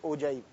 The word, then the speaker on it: ogive: is known as an ogive the spelling is og iv-e it is pronounced as oje so we have to